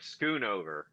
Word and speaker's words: Schoonover: Schoonover. Oh, like Like scoot over. yeah, like scoot over, or like a sailboat schooner, or I don't know, whatever.